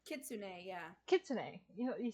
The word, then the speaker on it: kitsune: Um, Kisune? Kitsune, yeah.